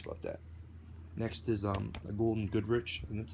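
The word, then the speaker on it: Gould & Goodrich: Next is a Golden Goodrich, and that's how you say it, swivel radio holster.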